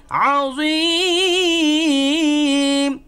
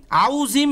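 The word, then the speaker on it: العظيم: আলিয়ুল আযীম, আউজিম এরকম না, অনেকে আউজিম বলে না, আউজিম, জিম, জিম, এখানে 3 আলিফ পরিমাণ টান দিবেন, এটাকে বলা হয় মদ্দে আরজি।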